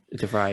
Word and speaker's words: De Vrij: Is that how you pronounce his name? De Vrij? De Vrij, yeah.